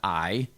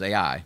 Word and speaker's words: Ai: on the east now some people call that i or a but it's the way i've heard it pronounced is ai just like it's like it's written there on